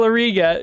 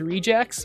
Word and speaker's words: regex: I read it in my head as rejects, but I have a feeling it's. I know it stands for regular expressions. At least I think so. Oh, is it pronounced rejects? Okay. Wait, now I feel like I'm being trolled because it stands for regular expression. So wouldn't it be regex? Oh, it's reg. Oh, it's regex.